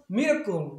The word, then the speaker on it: miracle: 아까는 miracle 명사일 때 miracle이었지만 형용사가 되면서 miraculous로 바뀌어요. 그러니까 액센트 위치가 바뀌니까 당연히 발음도 바뀌는 거예요.